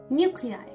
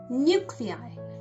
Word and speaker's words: nuclei: Nuclei. This is the spelling and this is how it's pronounced. Nuclei.